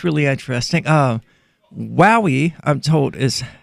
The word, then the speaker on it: Huawei: I've heard so many Americans give so many different pronunciations, but it's Hua, like Huawei.